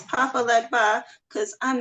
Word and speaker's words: Legba: Legba, Legba.